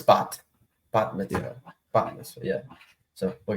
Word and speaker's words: bat mitzvah: he's at like his granddaughter's like ban mitzvah. I think that's Yeah, how you say it. Or is I it? think Kenny Albert's going to be doing game 1. No, it's bat mitzvah.